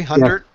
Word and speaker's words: Hundert: Now, Epstein and Hundert, and Sam, am I pronouncing that correctly? Hundert?